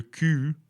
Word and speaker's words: cul: Beware that le cul, pronounced K-U, means the ass, as we just learned from PQ, papier cul.